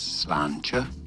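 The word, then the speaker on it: sláinte: It is said as slancher slancher slancher slancher slanch.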